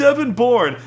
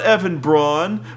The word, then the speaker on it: Bourne: Twitter messages about these who's Evan Bourne he's not Evan Braun would you keep mispronouncing